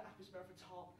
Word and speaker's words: Apis mellifera: You actually pronounce the Latin name wrong. It's actually the Apis mellifera.